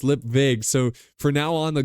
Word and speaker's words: Lipwig: you know he's like Mr lipwig is like no it's lip Vig it's pronounced lip Vig so for now on